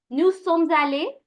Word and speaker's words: Nous sommes allés: Nous sommes allés. We're going to connect the sound of the S with the A.